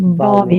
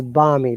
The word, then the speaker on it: balmy: I didn't know that generally it looks like Bobby but it's balmy remember that Al is silent yes balmy weather very